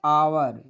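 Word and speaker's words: hour: जैसे अभी मैं यहाँ लिखता हूँ आवर, देखिए यहाँ इसके पहले एच है लेकिन लगाएंगे इसके पहले एन।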